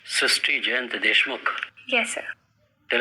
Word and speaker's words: Srushti: So in Marathi, the word re is pronounced as ru. So that is why the pronunciation goes Srushti.